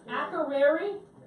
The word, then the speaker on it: Akureyri: Now, can anybody help me pronounce the name of the port we're going to tomorrow? Because I can't do it. Akureyri?